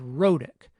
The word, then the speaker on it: rhotic: Now here's the word rhotic, which we've said many times in this course. What's interesting about this word is that the medial consonant sound is a tap.